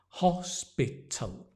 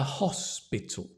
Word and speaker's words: hospital: dark l t can you see the tongue t and the tongue touches the teeth hospital and try and put the a at the beginning a hospital a hospital perfect a hospital I work